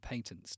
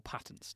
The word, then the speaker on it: patents: 17 kids, he had 88 patents to his name, or patents, depending on your pronunciation bent.